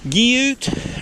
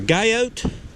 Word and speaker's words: Guyot: Guyot, or Guyot, as I like to say. You'll hear different pronunciations.